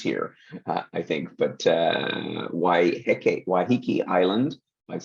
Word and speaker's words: Waiheke: could spend weeks here I think but uh why hiki Island I've said that I've pronounced that correctly waiheke has a is a